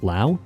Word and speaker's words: Laos: At its narrowest points in the center of the country, Vietnam's western border with Laos, yes it's pronounced Lao, is less than 50 kilometers from the world's most controversial sea.